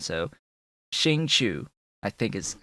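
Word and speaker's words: Xingqiu: It was 2 Noel, 2 Ningguang, the Xingzhu, Chu, CH sound after an S. It's SH sound at the beginning and then CH sound. So Xingchu, I think is how you say that dude's name, with Klee.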